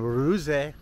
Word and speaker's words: Ruse: Eric Clark's travel videos and I'm here in uruze I'm saying it right now I asked a